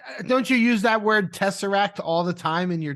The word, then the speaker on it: Tessera: Tessera. Yeah, Tessera. So think of the word like tesseract and then get rid of the CT at the end.